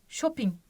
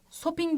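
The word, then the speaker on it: 쇼핑: başlayalım bildiğimiz bir kelime Shop in Shopping sopin değil mi Değil mi arkadaşlar bu Normalde s harfi ama bazen şey diye okunuyor ve bu şey gibi okunduğu kurallardan bir tanesi sopin demiyoruz Değil mi arkadaşlar Shop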